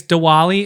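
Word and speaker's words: Diwali: parents I said happy Dali and she didn't isn't it Dali I think it's dwali it's spelled with a W but it's pronounced with a V very cultured over here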